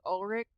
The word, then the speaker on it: Ulrich: like, Matthew Lillard and Skeet Ulrich, that's how you pronounce his last name, I do believe they're all, like, still pals.